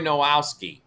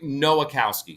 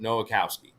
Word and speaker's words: Nowakowski: um his name is Corey Corey nowowski and he's a guide down here or I'm sorry Corey Corey nowakowski sorry I mispronounced that nowakowski and yes I'm eating